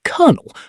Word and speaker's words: colonel: In English, we say colonel, but spell it with an L.